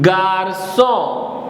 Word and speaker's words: garçon: This is G-A-R is gar, and C-O-N is son, garçon, which means boy.